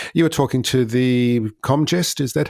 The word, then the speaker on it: Comgest: And you were talking to the Comgest. Is that how you pronounce it?